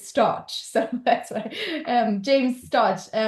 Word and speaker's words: Storch: So being raised in Germany, I would pronounce it Stauch, but the anglicized version of the name is Storch.